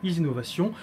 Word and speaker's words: IZInovation: partie donc de la société easynovation c'est ça prononce bien easy innovation roman Lassur d'ailleurs que je salue que je